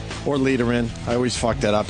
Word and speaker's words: Lederman: It's letter. It's Letter. letter. It is letter. Thank you for God knowing it. damn it. Letter. Yes. Well, I said it right the first time. It's like David Letterman with no T's.